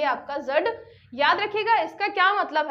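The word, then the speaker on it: dzud: रखिएगा फिर मंगोलिया में जड आपातकाल किससे संबंधित है ये आपका जो डी है ये आपका साइलेंट है जड और कहीं कहीं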